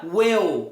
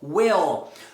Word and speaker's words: will: Então não vai ser nem well, will é will. Por quê? Porque o L é respeitado.